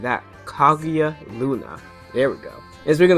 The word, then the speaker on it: Kaguya Luna: Oh, I butchered that. Kaguya Luna.